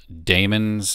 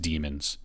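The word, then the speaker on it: daemons: looks like it spelled Damons or pronounced Damons but it's just pronounced demons a demon is a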